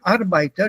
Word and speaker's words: Arbeiter: Here you said Arbeiter, don't pronounce the R.